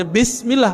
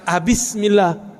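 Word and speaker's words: بسم الله: Tetap bacanya Bismillah, bukan Bismillah.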